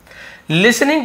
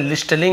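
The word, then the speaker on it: listening: बारे में उसे बताया लिसनिंग टू द विलेजर्स यहां पे टी साइलेंट रहता है लिलिंग नहीं पढ़ेंगे लिसनिंग टी साइलेंट ता है ठीक है तो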